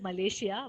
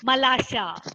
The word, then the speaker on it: Malasha: Don't don't pronounce it as Malaysia. Malaysia is the name of a country. Okay, Malasha.